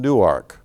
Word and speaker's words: Newark: The foremost educational institution in Delaware is the University of Delaware, located in Newark, pronounced New-Ark.